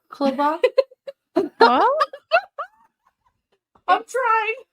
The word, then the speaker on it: balaclava: It's called Balaclava? What? I'm trying. It's the proper word for a ski mask. It's called a balaclava.